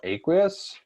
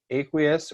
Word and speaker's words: aqueous: All right, water solutions are called aqueous. Or aqueous. You'll hear it both ways. Aqueous or aqueous. I don't care how you say it.